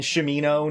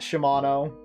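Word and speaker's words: Shamino: This game, some of the names in this game, like I always pronounce it Iolo, not Yolo, and Shimino, not Shimano. Minok, it was always Minok to me.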